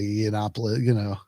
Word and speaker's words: Yiannopoulos: I still I know every time I say Yiannopoulos, oh, actually I think I said it right that time.